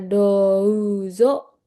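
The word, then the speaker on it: どうぞ: Nah, terus ada dozo dibaca douzo yoroshiku onega ini dibaca nega i shimasu.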